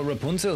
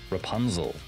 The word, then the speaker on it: Rapunzel: to Rapunzel you know Rapunzel is always a funny name if you imagine how English speaking people pronounce it cuz they say like Rapunzel right but it is it is very German Rapunzel that's how you get